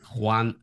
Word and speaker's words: Juan: Juan. I call him Juan, like the number one.